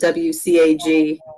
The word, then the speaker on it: WCAG: the neat thing about as we uh pronounce it wcag um is that it's